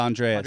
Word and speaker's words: Andreas: Did I pronounce it right? Yeah, Andreas.